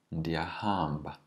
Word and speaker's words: ndiyahamba: Ndiyahamba. Notice that the second last syllable is always stretched in Xhosa.